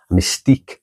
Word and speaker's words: mystique: part of a package, even though by then the French had stopped pronouncing the W part. Quiche is just quiche. Mystique is just mystique.